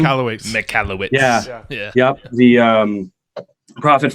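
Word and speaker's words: Michalowicz: And then all the stuff by Michael how do you pronounce his last name? McCallowitz.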